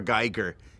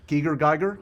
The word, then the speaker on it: Giger: Geiger, he's not for kids.